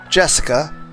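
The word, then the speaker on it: 朱志香: Anyway, is pronounced Jessica. She's dad's older brother's daughter. That older brother happens to be the oldest son of the Ushi Romeo family. So now it it means Jessica is the direct family heir.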